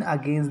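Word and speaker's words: against: कहा जाएगा don't lean अगेंस्ट the wall. अगेंस्ट का टी साइलेंट हो जाएगा बोलते समय, तो हम बोलेंगे don't lean अगेंस्ट the wall.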